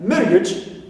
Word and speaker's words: marriage: Age, like, or edge, okay, like marriage. So, edge here also is neutral. We stress ma, first syllable.